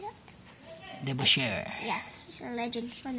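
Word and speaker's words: DeBusschere: Got Dave Debuscu. How do you say that? Debuscher.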